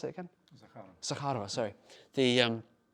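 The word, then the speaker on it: Zakharova: states and Maria Zarakova Zar how do you pronounce it again? Zakara, Zakara, sorry.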